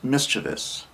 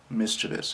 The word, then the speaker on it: mischievous: this on the internet mischievous or sometimes it's mispronounced as mischievous and that's incorrect it's mischievous mischievous and that is someone that pulls a prank